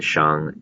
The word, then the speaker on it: Shang: we're going to be specifically looking at the Shang Dynasty the Jo dynasty the Qin Dynasty and